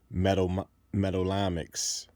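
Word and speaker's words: metallomics: And just a side word note, that word I was trying to pronounce was metallamics or metallamic techniques.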